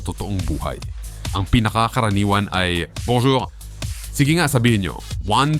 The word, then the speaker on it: bonjour: nasa France tayo okay kaya yung tunog na on Hindi iyan un kundi on Ayokong makarinig ng n